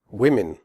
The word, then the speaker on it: women: Women. The O in women has a different sound than the O in the singular form woman. In women, the O is pronounced I, as in the word win.